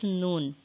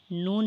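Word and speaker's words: نون: It is a light, nasal and long sound letter. It is pronounced by joining the rounded tip of the tongue with gums of the frontal 6 teeth.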